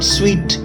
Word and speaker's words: suite: SUITE is called स्वीट, है ना.